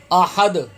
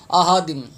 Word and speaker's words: احد: یہاں پہ بھی اکثر حضرات ہا کی ادائیگی ٹھیک نہیں کرتے، یہ تلفظ بھی غلط پڑھتے ہیں. احادم، احادم، الف خالی کی آواز نکال دیں، یا حمزہ خالی کی آواز نکالتے ہیں.